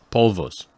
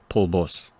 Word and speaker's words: polvos: that sounds right and if you say it like spanish speakers you could also say paul boss oh okay because they mix up the v and the b yeah well that